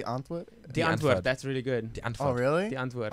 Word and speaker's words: Die Antwoord: Well, But there you it's pronounced die antwoord.